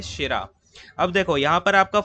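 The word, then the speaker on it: Tschira: ठीक है, क्लाउज शेरा, शेरा में जो है टी साइलेंट होता है, शेरा।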